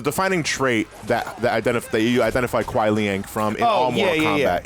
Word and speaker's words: Kuai Liang: No, Kuai Liang. Chill out. It's Liang. It's Kuai Liang.